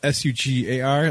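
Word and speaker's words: Shugger: they can spell it S-U-G-A-R. That's not what I'm trademarking. It's S-H-U-G-G-E-R. Sugar. Sugar? Sugar. Because that's how it's pronounced, right? Yeah. Phonetically, it's sugar.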